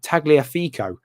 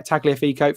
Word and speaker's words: Tagliafico: would put in um tagliafico is his uh is his pronunciation thank you very much mr prattan yeah tagliafeco for future pronunciation and uh yeah so